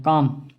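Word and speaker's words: culm: Rice rice का जो stem होता है उसे हम काम कहते हैं, काम। इसमें यल साइलेंट होता है, काम।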